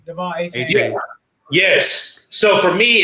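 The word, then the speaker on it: Achane: A-Chain, Devon A-Chain.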